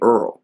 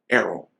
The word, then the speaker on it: Errol: and she called me Earl she was like Gladys his name is Errol his name is spelled e-r-r-o-l his name is not e-a-r-l you will call him Arrow he was like well